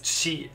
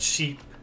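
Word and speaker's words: シ: it's used to represent pronounce it as she like in the word sheep she she so we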